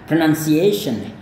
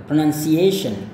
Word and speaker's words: pronunciation: Jadi pronunciation, alright. Jadi ini adalah bunyi s dengan h ya, shen, kayak gitu. Nah, lihat komanya ada di sini ya. Pronunciation itu, pronunciation kayak gitu ya.